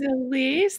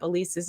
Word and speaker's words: Alese: You can find Beyond the Locks if you're looking up Elise's name. It's spelled Alese, and it's with a T.